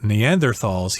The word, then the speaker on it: Neanderthal: And I should mention that this is a German word, so some people say Neanderthal, pronouncing it the English way, but I think in German you're supposed to say Neanderthal, Neanderthals.